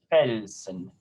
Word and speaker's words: Felsen: So that S, if it's in an initial position, or if it's the beginning of the syllable, usually that means that it's going to be a Z sound.